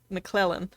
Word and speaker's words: McClellan: one was perfectly pronounced you don't have to say the first c okay mcclellan i'll go with that